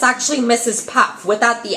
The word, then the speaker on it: Mrs Puff: name wrong it's actually Mrs Puff without the S on the end of Pops because they said it as pups but it's actually Mrs Puff without the without that